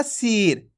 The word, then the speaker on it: सिर: कैसे पढ़ र सिर आपको इस तरीके से नहीं पढ़ना सीर खीच के नहीं पढ़ना अगर खींच के पढ़ोगे तो बड़ी ई की मात्रा का उच्चारण हो जाएगा ये आपको अच्छे से समझ लेना है कैसे पढ़ेंगे जल्दी से पढ़ देंगे सिर अब देखो इस शब्द